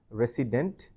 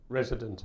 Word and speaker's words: resident: people wherever they are normally they tend to pronounce this word as resident but this word should be pronounced as resident resident resident res resident resident so resident um